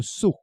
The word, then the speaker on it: sceau: 8e symbole maintenant, c'est le sceau. Le sceau, ça s'écrit S-C-E-A-U.